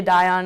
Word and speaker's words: Dion: and it's just, Olivia Dion has always been trying to score goals. I think I pronounced her name wrong. No, you got it right. It's Dion. It's Dion? It is Dion.